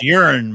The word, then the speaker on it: Huron: 645 Huron Drive, Apartment B, Heath, Ohio, 430. Pronounced urine, but all right.